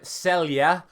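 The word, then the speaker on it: Celje: of times who I'm going to try and say correctly this time myself it is nogne Club Celia so again thank you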